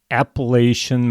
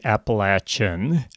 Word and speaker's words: Appalachian: It is the largest boulder field in the Appalachian Mountains, or you can say Appalachian. I've heard it pronounced both ways.